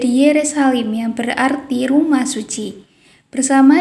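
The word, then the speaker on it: ירושלים: Kata Yerusalem berasal dari nama ini yang diucapkan dalam bahasa Ibrani menjadi Yerusalim, yang berarti rumah suci.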